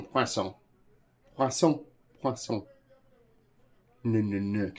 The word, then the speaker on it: poisson: Which fish can be known in French as a poisson épais? How are you not pronouncing the N in poisson?